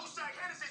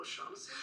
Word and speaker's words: O'Shaughnessy: Now take your ass on down to Oshag Hennessy's office right now and tell him exactly what you did. Who? Oshag Hennessy! Principal O'Shaughnessy?